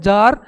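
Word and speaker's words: czar: जार का क्या बनेगा इसमें सी साइलेंट होता है जार तो इसमें इसका बनेगा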